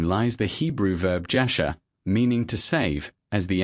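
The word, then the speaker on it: ישע: This is how these two words are pronounced. Sōtēría. JASHA.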